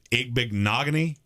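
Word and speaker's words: Igbinoghene: Igbignogany? Yep. I said that name wrong for an entire draft season, so I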